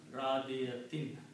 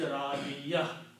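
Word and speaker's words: رَاضِيَة: And when you stop the ayat, you say Radiyah. Actual word is Radiyatin. But tajweed, when you stop, you do not pronounce the sound of last harakat, and you pronounce Radiyah.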